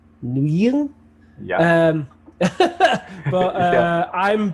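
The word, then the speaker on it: Nguyen: as I can tell the pronunciation is something like new yeah um but uh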